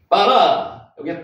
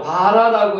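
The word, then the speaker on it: ברא: 빠라 요게 빠라입니다. 실제로 바라라고 읽기도 하는데 실제로 읽을 때는 빠라입니다. 된발음이 나죠.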